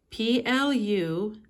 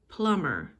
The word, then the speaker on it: plumber: driver tru plumber p-l-u-m-b-e-r plumber notice that we do not pronounce the b it's a silent b plumber mechanic m e